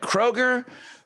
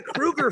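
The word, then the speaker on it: Kroeger: the Krugers oh wow they're the Krueger family um like like Freddy Krueger so and his brother's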